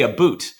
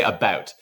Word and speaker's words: about: say, "Oh, you say a boot." And no, we do not say a boot. Uh, we say about, which is admittedly different than about, but we're not referring to uh footwear.